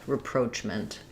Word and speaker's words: reproachment: So because it's stressed on the second syllable letters r a are going to be a reduced schwa vowel. So repro. And then here ch is gonna actually say the ch sound ch. And then we have our mint. Um short schwah there. So I would write that like repro. Um reproach like roach or coachment. Almost no vowel there at the end.